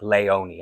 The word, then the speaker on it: Léonie: over the e, the exonteu, which means it's pronounced as a like leoni.